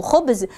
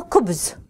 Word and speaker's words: khobz: Lui, il se moquait de ces personnes-là et il disait que ce sont des gens qui ne savent pas prononcer le mot khobz, ils le prononcent en disant kobz.